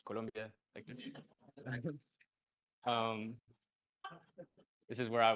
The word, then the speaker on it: Colombia: bota this is the capital of Colombia yes pronounced Colombia um this is where I was born and